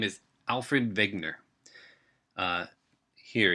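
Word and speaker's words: Wegener: his name is Alfred vigner uh here it's spelled with a W but it is pronounced with a V and he as a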